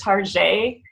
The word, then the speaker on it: Target: chic well when customers pronounce it with the French accent tarjay well that's exactly what